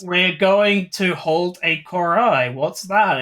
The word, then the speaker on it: Cor'Ai: He says Coral the first time. He says Cor'Ai. Does he? Yeah, he says Coral. He fucking mispronounces it.